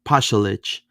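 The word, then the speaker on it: Pašalić: I mean now Orlando's new attacking players like Marco uh Posalich uh I said it right this time Pelich um they're going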